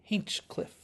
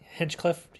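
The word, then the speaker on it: Hinchcliffe: no that says Berry lets let's Berry yeah h i n c h c l i f f e hinchcliff hinchcliff I always pronounced it Hench Hench Clift hinchcliff hinchcliff yeah I got to have one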